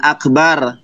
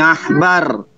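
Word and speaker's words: עכבר: Itu bacaannya bukan akbar tetapi ahbar.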